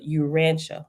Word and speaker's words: Urantia: jesus christ stuff in the you and it's pronounced the urantia right it's spelled u-r-a-n-t-i-a book right okay so